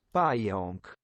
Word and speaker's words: Pająk: Pająk. Pająk. Pająk. That almost makes it sound like the second A is like an ON kind of sound. Pająk.